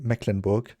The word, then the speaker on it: Mecklenburg: an english speaker but over here we say mecklenburg sounds pretty a little bit rough yeah i know it's just true it sounds like iceberg almost like mecklenburg nicer sounding okay now